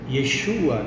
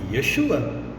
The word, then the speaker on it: Yeshua: Ain, com sinais massoréticos para dar a vocalização, Yeshua em português. Se em hebraico eu falo Yeshua, em português é Jesus? Não, é Yeshua.